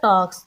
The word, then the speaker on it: talks: मैंने इसको पढ़ा talks, अब इसकी l की साउंड नहीं आई तो इसका मतलब l यहाँ पे साइलेंट है।